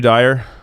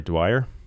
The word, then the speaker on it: Dwyer: versus Biden would show dire sorry Dwyer Dwyer hi we said your name wrong and Rudy wire says